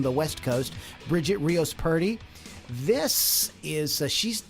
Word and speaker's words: Purdy: It's Purdy, not pretty. Purdy.